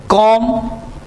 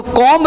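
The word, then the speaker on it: comb: जैसे इसको बॉम्ब नहीं पढ़ेंगे, इसको पढ़ेंगे आप बॉम्ब, इसको पढ़ेंगे टॉम, इसको पढ़ेंगे कॉम कॉम, इसको कॉम्ब नहीं पढ़ेंगे, इसको पढ़ेंगे थॉम, डाउट, इसको डाउट भी नहीं पढ़ेंगे, डाउट, इसको पढ़ेंगे लैम।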